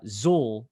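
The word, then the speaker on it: Xul: are you doing so i think the brewery is pronounced uh zul it's x u l i'm actually wearing one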